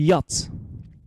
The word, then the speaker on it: yacht: yeah an amateur he yachts yacht very good your attention here we got CH here is not pronounce CH is not pronounced we are not pronounced